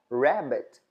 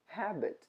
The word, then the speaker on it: rabbit: aliás em inglês que significa chapéu outro exemplo Rabbit Rabbit que significa Coelho Às vezes a gente pronuncia como Habit que é hábito né Habit Rabbit Habit Rad